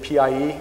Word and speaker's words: PIE: They can have what's called Pocket Internet Explorer, which is abbreviated PIE and generally pronounced PI.